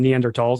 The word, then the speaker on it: Neanderthal: day talking about Neanderthals, or actually Neanderthals, I should say. Apparently. Right way to say it.